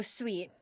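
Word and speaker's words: Suit: February called she's so sweet but sweet is spelled s UI t as in C interviewing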